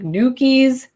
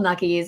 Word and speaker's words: Nuckies: I didn't know how to pronounce it in the beginning. I was like, Nukies? No, I don't know. And so it's called Nuckies. It has to do with knuckles, like holding it in your knuckles and like on your knuckles on your hand.